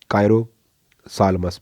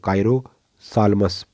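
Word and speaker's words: Chiropsalmus: और एग्जाम्पल इसका है कायरो सालमस, पी साइलेंट है, CHIRO, कायरो सालमस, PSALMUS।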